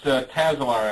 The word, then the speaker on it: Tazar: how close was I it's tazar actually tazar okay I'm GNA get